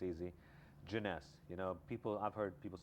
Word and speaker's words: Jeunesse: this is a joke all the time, is pronouncing the name of the company. Everything else falls in place, it's easy. Jeunesse, you know, I've heard people say Genesis or Jonas.